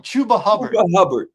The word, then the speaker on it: Chuba Hubbard: Chuba Hubbard.